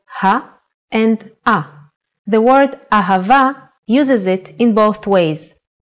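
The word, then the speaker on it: אהבה: and ah the word ahava uses it in both ways when hay appears in the end of the word it will always sound as a ahava is love in Hebrew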